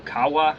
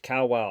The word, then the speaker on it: Kawau: morning and head to Kawa Island I think is how you pronounce it I learned later that the proper pronunciation is cow wow Island to Bon Accord